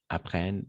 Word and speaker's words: apprennent: Les verbes apprendre au subjonctif présent, apprennent, apprennent, apprennent, apprenions, appreniez, apprennent. Un T à la fin, on ne le prononce jamais.